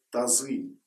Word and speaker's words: тазы: На Востоке степная охотничья собака называется «тазы» с ударением на «ы».